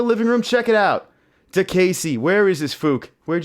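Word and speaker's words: Diakiese: the guy's name it's it's d-i-a-k-i-e-s-e but it's pronounced to Casey easy enough with the ridiculous of most ridiculous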